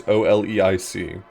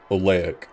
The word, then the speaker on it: Oleic: The Sky Ancestor is the name of the Sky Ancestor is Oleic, Oleic, if you want me to pronounce it. It's just the word Cielo backwards, but This is another